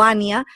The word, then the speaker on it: Anya: Allá le dicen Anya o Ania, pero se escribe con A-N-Y-A.